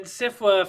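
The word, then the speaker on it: SFWA: them right right and sifla for any of those who don't know is the science fiction and fantasy but only one is not two f's f is silent and invisible and invisible yeah that's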